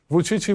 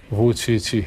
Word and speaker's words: Vučić: popular among Chinese netizens, they even give you a nickname called 577 because the pronunciation of your name, Vučići. Vučići, yes, right? Actually, it's the same with the numeral pronunciation of Chinese.